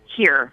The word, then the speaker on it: Hir: It's actually pronounced here.